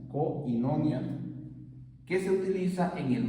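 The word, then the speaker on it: κοινωνία: w V I a que se pronunciaría koinonia koinonia que se utiliza en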